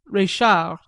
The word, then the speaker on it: Reichhardt: establishment of Madame Reichhardt, pronounced à la Française, Reichard, where I felt that